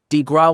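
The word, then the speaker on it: de grâce: The killing blow, the coup de grace pronounced, de grace, was delivered upon the American people by Franklin D.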